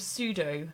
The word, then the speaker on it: pseudo: Eclectic cloud of pseudo. Yeah, see, it's the P. It's the silent P that did it.